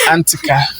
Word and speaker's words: Antika: Please, the name Antika, I can't pronounce it very well. Antika or So the name is Antika.